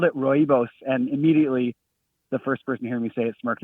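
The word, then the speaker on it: Rooibos: The one that I see most often is Royos.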